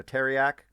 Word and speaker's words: Tareyak: So it's teriyaki minus the e, right? So Tareyak.